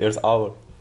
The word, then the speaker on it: Earth Hour: Oui, en fait, ça se prononce presque comme en français, c'est Earth Hour.